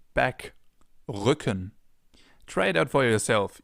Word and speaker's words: Rücken: Or Rücken, back, Rücken.